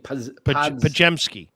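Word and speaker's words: Podziemski: Pajemski. Pajemski. Okay, there we go. Pajemski. ZIM is like JEM.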